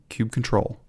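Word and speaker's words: kubectl: line kubernetes manifest and we're applying it using Cube control as we learned that that's the correct way to pronounce it there you go but what's happening when we say Cube control apply yam file what's happening each of those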